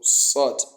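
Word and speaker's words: ص: Is a so sod, sod, sod, sod, sod, sod. So that's the articulation. It is pronounced on the tip of the tongue when it relies on the bottom incisors and la- sod, sod, sod, sod.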